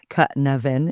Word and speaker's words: Cynefin: Cynefin.